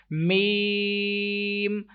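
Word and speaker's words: ميم: Next letter mim. Some people pronounce this letter like mim and this one like lam, mim. They take sound into their nose, like lam. So that is wrong.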